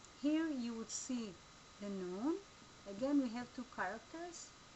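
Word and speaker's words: נון: Here you would see the Nun. Again, we have two characters because this one is a final Nun and this is just an ordinary Nun. It sounds like N as in new.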